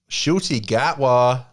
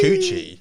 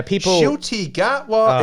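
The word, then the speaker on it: Ncuti Gatwa: how he Saidi gwa he says coochie like a vagina yeah the coochie coochi hoochi gwa and I just like they've been doing baby they've been doing mad like press for the new series I just this American bird shoy G it's just such a funny way of saying it yeah shoy gatwa it's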